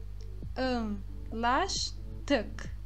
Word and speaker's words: anlaştık: não tem o pingo, que é o A do turco, que é equivalente ao A com o tio ou o A com o circunflexo do nosso português. E ficamos com a pronúncia anlaştık. Anlaştık.